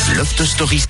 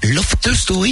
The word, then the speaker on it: Loft Story: Loft Stories. Loft Story, il faut dire.